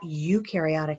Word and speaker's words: eukaryotic: take a look at eukaryotic cells you rhymes with blue you rhymes with do these are going to